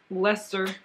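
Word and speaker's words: Leicester: is 85 Super Wash blue face lesser that's what it that's how it sounds that's how it's wow that's not how it's spelled okay anyway and 15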